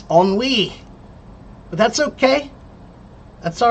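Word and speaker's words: ennui: And no it's not inui. It's onwi.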